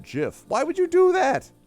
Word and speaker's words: GIF: of nonsense like that if you've got the word gift it's right there in front of you take off the t gif now let's call it jiff why would you do